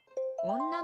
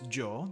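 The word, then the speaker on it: 女: Onna no ko. Onna no ko. So we have the kanji for woman, which is onna. can also be pronounced as jo, depending on the context.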